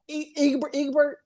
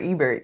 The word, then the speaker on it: Ebert: Egbert. Robert Ebert, yeah.